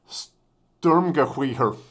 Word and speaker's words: Sturmgewehr: Reason being is that SG stands for, how do you pronounce this? Sturmgewehr.